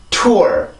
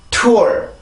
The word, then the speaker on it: tour: 자, T 발음이 들어가죠. 해봅시다. tour. 다시 한번 tour.